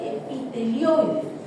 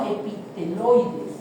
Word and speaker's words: epitelioides: Esta que tiene los núcleos al azar se llama gigante multinucleada tipo dice lanerham no dice no ah y se llama células epitelioides, no epiteloides.